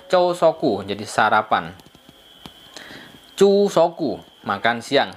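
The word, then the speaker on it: 朝食: Jadi makan kanji pagi asa tabe, jadi bacanya chousoku, jadi sarapan.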